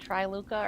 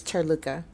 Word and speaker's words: Tirluka: Okay, do you want to be called Triluka or? It's Tirluka.